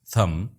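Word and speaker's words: thumb: इन तीन अल्फाज को गौर से देखिए, थम, नो, राइट। थम में बी, नो में खे और राइट में जी साइलेंट है।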